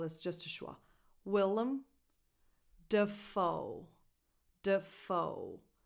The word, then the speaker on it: Dafoe: Willem Dafoe. Dafoe. The stress goes on the second syllable in the last name, foe. So the first syllable is d.